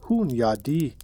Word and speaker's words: Hunyadi: Hungarian lord and general named John Hunyadi, pronounced roughly Hunyadi, famous across Christian Europe as a relentless enemy of the Ottomans.